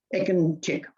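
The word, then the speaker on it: Ekincik: what Greg just did, when you see the C, you pronounce it ch, as if it was ch, Ekinchik.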